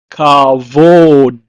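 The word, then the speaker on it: כבוד: It's pronounced in Hebrew as kavod.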